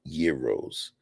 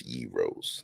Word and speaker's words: gyros: mean hell they sell Gyros if you lack culture though you might call them Gyros or Gyros but they pronounce Euros they make Euros they